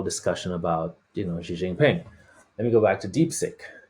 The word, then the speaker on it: Jinping: for me if I spelled it incorrectly ah jingping yeah I did spell it correct incorrectly so it's x i g